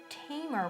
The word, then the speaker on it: Tamer: Tamer rhymes with Hamer.